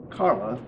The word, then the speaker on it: Carla: One of her sisters is here tonight, and Carla, and if you think Carla rhymes with Charla, you're not incorrect, because there are two other sisters.